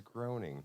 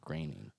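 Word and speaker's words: Groening: I thought it was groaning. No, that's how it's spelled but it's pronounced graining.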